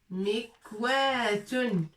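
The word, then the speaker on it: مكواة: Mikwatun. On va enlever ça parce qu'on n'a pas beaucoup de place. Mikwatun. Avec alif bien sûr. Mikwatun. C'est plus lent. Mikwatun, c'est le fer à repasser.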